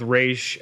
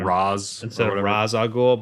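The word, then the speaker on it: Ra's al Ghul: Like, same thing with Raish. I mean, I feel like most people say that are into the comics say Raish, but instead of Raz Al Ghul, but I don't know.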